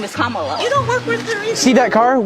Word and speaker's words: Kamala: how to say her name earlier you said Cala way she pronounces her name is kamalo you don't work with her either see that